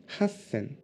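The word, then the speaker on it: 八千: se prononce ce and zen et 8000 se prononcent race selle ok les milliers c'est bon on est capable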